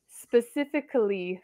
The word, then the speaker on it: specifically: in my list is specifically specifically so it has a Lee sound at the end this one you have